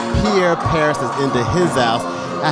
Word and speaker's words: Pierre Paris: um uh Pierre Peri I said Pierre Paris so you already know I'm already messing up okay no worries it's because I pronounce it the French way but Yahweh is good